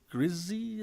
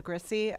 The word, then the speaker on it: Grissy: the lead off um Grizzy I say it right Grizzy my name is grissy I'm a full-time resident